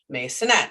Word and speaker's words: Masonette: none other than masonette and again i always say this i hope i pronounced that properly you did actually yeah there's a couple ways but that's one of them so you did